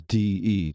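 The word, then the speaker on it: Dhee: d-h-e-e yes yeah but it's pronounced like saying the two letters d e together d e that's d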